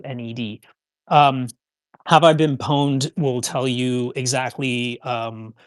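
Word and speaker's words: Have I Been Pwned: want to know, there's a website called uh Have I Been Poned? And that's spelled PW Ned D. P W NED. Um, have I been pawned will tell you exactly um you can type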